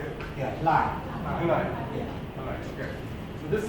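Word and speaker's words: Hlaing: Hulai.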